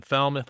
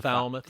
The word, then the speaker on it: Falmouth: It's named after someone in Felmouth. I think a bartender in Felmouth. Started Tommy's Place. It helps every week. Is that how you pronounce that though? Is Isn't that Falmouth?